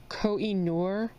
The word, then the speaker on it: Koh-i-Noor: The colored pencils that I'm using today are, I believe this is how you pronounce it, Koh-i-Noor woodless colored pencils, which if you have never